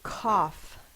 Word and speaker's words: cough: sco this up again the next word is going to be cough I cough when I'm sick c a f c is spelled with a C a is spelled with a o u vow team a is a short o sound a and then F it's the g h representing the F cough the next words